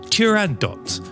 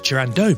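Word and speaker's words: Turandot: always thought it was tando but in fact it's tand do because it's an Arabic word used in Italian and in fact only in French you wouldn't pronounce the T there we go on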